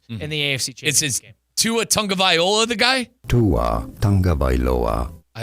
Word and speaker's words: Tagovailoa: Tua Tagovailoa. Viola. All right. Yeah, we got the pronunciation down.